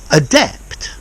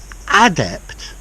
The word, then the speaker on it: adept: a difference in pronunciation adept adjective adept now so he's an adept adapt yeah so a depth of the stress is on the second part of the word whereas an adept the